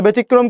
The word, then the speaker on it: ব্যতিক্রম: ব্যতিক্রমটা কেমন? বয়কারের বে, তস্কের তি, ব্যতি, ব্যতিক্রম, ব্যতিক্রম, ব্যতিক্রম। এখন বলতেই পারেন ভাইয়া এখানে আপনি কর উচ্চারণ কেন দুইবার করলেন? আরে ভাইয়া দেখেন তো শব্দের, দেখেন তো একটু, শব্দের মাঝে কর সাথে রফালা যুক্ত হয়েছে না? হয়েছে, ওই জন্য কর উচ্চারণ কয়বার করলাম এখানে? দুইবার করেছি।